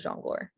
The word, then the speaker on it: jongleur: Yeah, the EUR words are, it's pronounced freezer, persifleur, jongleur.